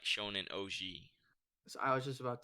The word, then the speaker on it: Ouji: Wait, how do you say? Is it No, you got it. OG? Okay. OG.